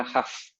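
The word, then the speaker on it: Hough: capítulos, un método que se llama la transformada Huff, ya que se escribe H-O-U-G-H, que detecta líneas rectas.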